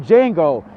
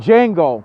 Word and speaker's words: Django: I'm not your slave I'm Django the deed the D is silent you understand I'm Django and I'm here for